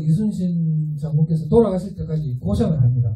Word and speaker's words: 이순신: 제가 어릴 때 발음이 안 돼. 이시신 장군이었는데. 저는 지금 정확하게 할 수 있습니다. 이순신이라고. 이순신 장군이, 여러분들, 이 사천해전 들어보셨나요?